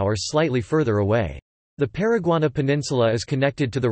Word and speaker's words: Paraguaná: The Paraguaná Peninsula, Spanish pronunciation, Paraguaná, is a peninsula in